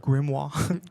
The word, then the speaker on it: grimoire: the succumb into your grimoire. Is that how you pronounce it? Grimoire. Grimmoir. Grimmore. It sounds more fun to say. Just say grimoire. It's fine.